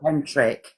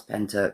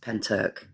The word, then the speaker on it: Pentyrch: It's not Pentric. It's not Pentric. Andrew, how do you spell it? It's um P E N T Y R C H. That's Penturk because it's it's Welsh.